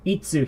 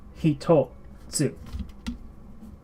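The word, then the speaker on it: 一つ: Normally, when we see just the itsu here by itself, we think, oh, itsu. But in this case, it's hitotsu.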